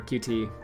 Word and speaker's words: Qt: about using prejudice uh it's cute or qt well however you want to pronounce it apparently it's officially pronounced cute but i think it sounds a bit dumb anyway uh yeah it's